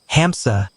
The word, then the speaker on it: hamsa: With each inspiration, it is said, we make the sound ham. Our exhalations speak essay. Hamsa, we breathe, pronouncing the word for gander.